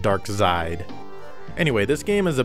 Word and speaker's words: Darxide: I guess you're supposed to pronounce it 'Dark-side' but I'm calling it Darxide.